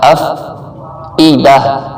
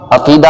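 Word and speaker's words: الأفئدة: افئدہ افیدہ نہیں کرنا، افیدہ کہہ دیتے ہیں اکثر لوگ، افیدہ نہیں افئدہ. ای کی آواز آنی چاہیے.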